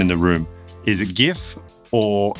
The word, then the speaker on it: GIF: Is it GIF or is it GIF? The man who created the format, Steve Wilhite, says GIF. But most people will say it like they read it, GIF. Unless you're a designer or you're particularly nerdy, then it'll be GIF.